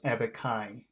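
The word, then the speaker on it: abaci: a lot of times, if you have a Latin word, when it becomes plural, it's pronounced I. So instead of abacus is singular, and then the plural is abacai.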